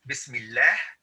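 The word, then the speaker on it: بسم الله: we'll have shadda and the reason this is pronounced as bismillah is because it has a kasra okay but if you're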